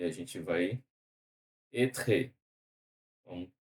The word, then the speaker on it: être: Não tem, ele não pronuncia o E.